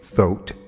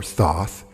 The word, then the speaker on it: Thoth: a collection of writings attributed to thought or thoth or toth i've heard three different pronunciations of his name he was a mythical